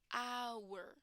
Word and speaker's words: hour: not pronounced okay guys it's not pronounced with the h and the last scenario